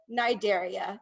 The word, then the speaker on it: Cnidaria: of a group of animals called nidaria the sea is silent um and think of